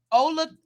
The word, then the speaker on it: Olathe: It's in pronounce that word. Olathe.